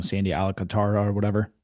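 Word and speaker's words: Alcántara: Sandy Alcantara or whatever. Alcantara, yeah.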